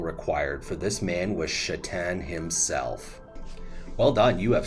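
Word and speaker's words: Šatan: Love chatan Now thankfully his last name is pronounced chatan not Satan but on paper this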